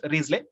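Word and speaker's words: Wriothesley: riesling pronunciation is uh risley it is pronounced risley spelling w-r-i-o-t-h-e-s-l-e risley then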